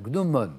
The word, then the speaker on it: gnomon: gnomon je l'entends le gnomon exactement Bernard bravo euh je crois qu'on prononce peut-être le N final gnomon mais enfin c'est ça